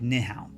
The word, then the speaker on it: Nyhavn: Now, it's spelled like this, but it's pronounced more like Nyhavn.